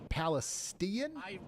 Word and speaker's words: Palestine: It's pronounced Palestian.